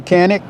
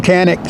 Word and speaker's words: Canik: video today the U everybody calls him canic some people call him xanic I don't know how to say it because I don't speak Turkish but I can say